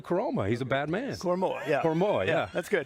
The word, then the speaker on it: Koroma: Koroma, yeah.